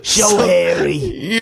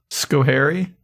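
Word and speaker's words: Schoharie: Showary. You're You're not that far off, but you guys can steal if you know it. Skary.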